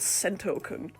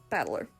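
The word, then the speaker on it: 戦人: kanji i can't read is made up of the characters for fight and person and it's pronounced battler put it all together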